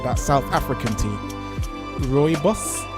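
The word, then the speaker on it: rooibos: see pronunciation uh let's let's listen to that Rus so it's ryus and Cherry and Peach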